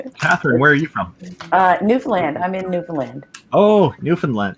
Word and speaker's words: Newfoundland: When I was a kid, my people I knew always called it Newfoundland. So if I was pronouncing Yeah. that must sound funny to you. That's how we know the mainlanders. Give ourselves away.